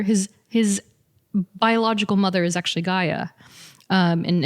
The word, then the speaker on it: Gaea: So for Thor, Gaia, it's spelled Gaea, which is also a derivative of Gaia, as in like Mother Earth, Gaia.